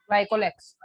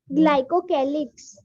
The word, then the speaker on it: glycocalyx: I think Vicky answered this question, but the pronunciation was wrong, so I want to correct that. Vicky, you said something. Capsule and slime layer is made up of what? Glycolex. Glycocalyx. It's not like capsule or